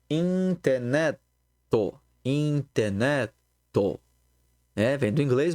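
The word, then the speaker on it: インターネット: E aí a gente vai ter a palavra estrangeira internet, em katakana, que se diz interneto.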